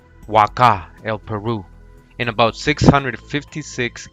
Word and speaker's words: Huaca: In Peru with the H, but it's pronounced Huaca, W-A-K-A, just like the site.